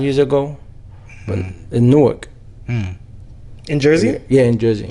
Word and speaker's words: Newark: Yeah, if you're not from Jersey, you think it's Newark, baby. It's Newark.